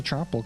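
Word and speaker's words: Troupple: acolyte oh hell the tropel king who yeah that's 15500 I mean yeah who you've never heard of the Trel King half trout and half Apple pronounced like mouthful he's one of the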